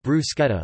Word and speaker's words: bruschetta: In Italian and non-English speaking countries, bruschetta is pronounced bruschetta.